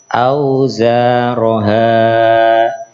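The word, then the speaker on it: أَوْزَارَهَا: Auzaroha. Ketika waqaf tetap auzaroha, haknya tetap dibaca panjang.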